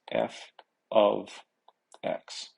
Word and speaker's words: f(x): with an x in brackets and how it's pronounced is f of x and what it means is y is equal